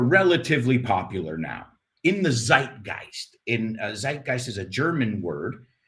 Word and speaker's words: Zeitgeist: Zeitgeist, I don't know if we pronounce it correctly in German. I'm telling you how we pronounce it in American English.